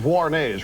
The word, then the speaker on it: Vuarnets: Now, somebody in the audience, they did offer me some Vuarnets, right? That's how you pronounce it.